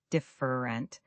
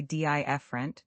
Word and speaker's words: different: Learners often give each syllable equal weight. Different, but we usually say dient, dropping the middle syllable almost entirely.